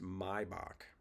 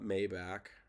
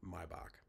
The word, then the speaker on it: Maybach: Carl, it is pronounced Maybach. It's not Maybach or Maybach. It's my right. So it you have to remove the A from the word to get the the German pronunciation Maybach.